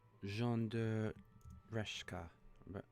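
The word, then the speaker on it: de Reszke: I'm glad I wasn't the only one had difficulty pronouncing that name, because it just looked more Polish, and it was Polish, kind of. Yeah. Let's have a look. So it's Jean de Reshka.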